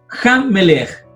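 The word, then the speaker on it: המלך: Entonces, aquí dice que el puntito al medio, el dagesh fuerte, duplica la consonante sobre la cual está ubicado. Entonces, ¿cómo se leería? Ham Melech. Ham Melech. Así se leería.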